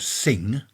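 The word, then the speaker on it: Singha: They do one called Sing. That's how it's pronounced. Sing.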